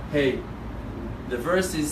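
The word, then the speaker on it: ה: particles small letter hey you're pronouncing the letter hey like eh it's just a breath of hit err that's the way you spell it's a letter with no voice you barely it's a whisper you can just hear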